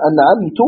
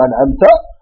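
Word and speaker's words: أنعمت: Quelqu'un va dire Sirat al-ladhina an'amtu alayhim. An'amtu, là il a changé la fatha du ta, c'est-à-dire an'amta, en une dhamma, il va prononcer an'amtu.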